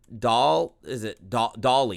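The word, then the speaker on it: DALL-E: I used Dolly? It's kind of spelled like Wally, but Dolly.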